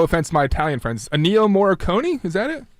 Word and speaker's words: Ennio Morricone: Because I can never pronounce the guy's name. No offense to my Italian friends. Ennio Morricone? Is that it? Ennio Morricone.